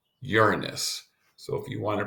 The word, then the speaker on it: Uranus: terms of how you pronounce this is not pronounced your anus but pronounced Uranus so if you want to practice to be